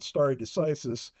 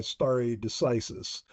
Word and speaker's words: stare decisis: And also explain for the readers what we mean by stare decisis. And you can pronounce it a little differently than I do. That's how I pronounce it, stare decisis.